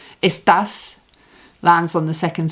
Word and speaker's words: está: So we're not saying esta, we're saying está.